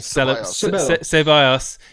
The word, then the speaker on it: Ceballos: Ceballos.